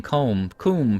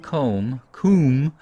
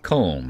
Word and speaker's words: Coombe: It's hard to pronounce that Coombe, because in America that would be pronounced comb, as in honeycomb. But let's pronounce it the way that hopefully the English would.